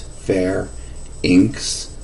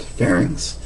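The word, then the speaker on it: pharynx: and by the way that's how you pronounce that it is fair inks I think a lot of people um try to make that a three syllable word and it is not fairings the esophagus is the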